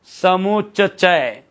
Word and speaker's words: समुच्चय: समुच्चय नहीं होता, समुच्चय होता है। च क्या आएगा, 2 बार, समुच्चय।